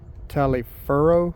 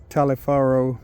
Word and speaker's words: Taliaferro: I think it's Taliaferro. I believe that's how you pronounce it. So upon learning his original name, he immediately started going by Booker Taliaferro Washington.